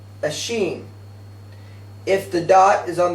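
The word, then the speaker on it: שׁ: And in writing the letter, if the dot is placed above the letter, it's pronounced a sheen.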